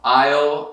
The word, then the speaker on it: aisle: Então, aisle, e tem a mesma pronúncia, não falando esse S é mudo.